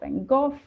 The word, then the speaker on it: Van Gogh: So one of the exhibitions that I worked on was called Vincent van Gogh, or Van Gogh, or Van Gogh, however you want to pronounce it, but it is Van Gogh, and the 400 days that he spent in Amsterdam.